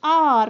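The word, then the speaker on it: hour: After dash are, तो after dash are, एन आर मतलब 1 घंटा के बाद, H silent है इधर H, so we pronounce it as R, not hover.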